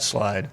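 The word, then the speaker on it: Slyde: theyve come up with and how do you spell that slide it is spelled s l yde all right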